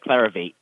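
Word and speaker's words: Clarivate: at clvt which is clarify clavate clar eight is that how you say it uh yes clar of8 okay can tell me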